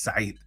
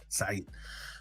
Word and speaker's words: Said: And I would never let First of all, I don't let them pronounce my name incorrect. So, I would always correct them and say, "It's Said. Said."